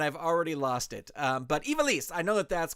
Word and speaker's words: Ivelisse: And the big announcement is Ivelisse, La Sicaria. You know, I listened to this right before I went on, and I've already lost it. But Ivelisse, I know that that's correct.